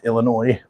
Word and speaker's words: Illinois: place near me in Illinois Illinois s is silent for all of you